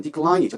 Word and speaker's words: decline: 자, 그림을 보시면 1번 거절하다 들킬라 바로 밑에 보시면 decline이죠. decline. 발음이 뒤쪽에 I 있습니다. 그러니까 decline 이렇게 거절합니다.